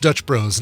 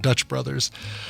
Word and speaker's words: Dutch Bros: It's it's pronounced Dutch Bros, not Dutch Brothers.